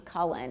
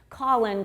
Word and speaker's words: Cullen: my last name because my real last name is Cullen and this was before Twilight so nobody knew how to pronounce it they were always like Colin Colin Collins and I just you